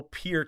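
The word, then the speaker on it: Peart: from the rock you have to say Neil Pier is how you say his name I recently learned it's not part from Rush um but yeah Buddy Rich for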